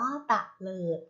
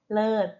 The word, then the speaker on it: เตลิด: ค่ะ เตลิด นะ คะ เตลิด อ่าน ว่า เตลิด นะ คะ แต่ ถ้า ไม่ เติม ของ เห็น แล้ว คะ จะ อ่าน เป็น อะไร เอ่ย เลิก ใช่ ไหม ค่ะ ลูก